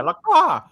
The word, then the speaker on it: Lacroix: Like a crow, yeah, Lacroix. Yeah, but again, the first name. What is what makes what? It just makes sense. Makes sense. Oh, makes sense, Lacroix.